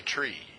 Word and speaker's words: tree: same thing with 3 you don't say three you say tree now in the United